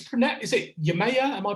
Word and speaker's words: Yemaya: into the am i it's pronet is it yamaya am i pronouncing that yeah yeah yeah yeah so where